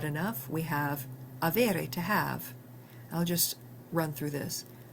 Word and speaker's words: ha: we have avere, to have. I'll just run through this. Io ho, tu hai, lui o lei ha, noi abbiamo, voi avete, loro hanno. Notice that the initial H is silent.